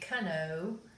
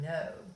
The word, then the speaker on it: know: sounds like the word know doesn't it in ho right so it's not this is snow but it sounds like that okay all right remember that the K is silent all right this one